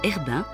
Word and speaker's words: cherbin: de cherbin le cherbain prononcé Herbain en Arden liègeoise et dont le nom